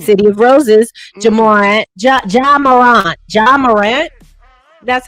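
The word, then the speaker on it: Ja Morant: Jamarant.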